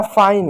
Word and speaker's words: fine: और ई क्या? साइलेंट होता है। ई क्या होता है? ई जो होता है साइलेंट होता है, यानी किसी भी शब्द के अंत में यदि ई आए तो ई हमेशा क्या? साइलेंट होता है।